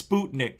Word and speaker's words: Sputnik: the show sputnik and it is sputnik it's not sputnik you have to say it like the russians do sputnik it's the only